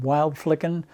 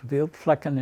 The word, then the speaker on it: Wildflecken: We had to go to a place called Wildflecken. It's not how it's pronounced in Germany. It's Wildflecken in Germany, which was the maneuver area.